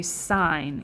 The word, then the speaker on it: sine: and like normal terms we would pronounce that sin but when you're in the math class you need to train your brain so whenever you see that you say sine even though it looks like sin we have to train